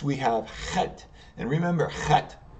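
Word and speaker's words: חית: And remember, Chet, right here, you're going to pronounce it from the back of your throat. It's almost like you're scratching your throat as you're saying it. And it's an H sound. So Chet.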